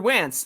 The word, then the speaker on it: Wentz: Andrew Wentz, his note says, rhymes with pants.